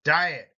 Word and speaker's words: diet: nutrition hygiene diet now as hyene and diet have first syllable emphasis hygiene diet the next four have